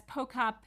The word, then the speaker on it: Pochop: That's Pochop with a hard C, even though it's spelled CH.